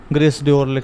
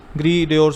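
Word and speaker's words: Gris Dior: का, ठीक है ना, ग्रेस डियोर मतलब अगर आप स्पेलिंग को देखें, लेकिन वैसे ग्री डियोर बोलते हैं।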